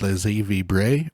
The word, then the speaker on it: laissez vibrer: Full disclosure, I had to Google how to say this, and it is laissez vibrer or something like that, and this is an